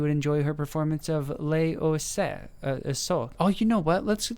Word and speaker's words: Les Oiseaux: pronounce pronunciation in English so this is said in France as was okay so it's less wazoo uh what does it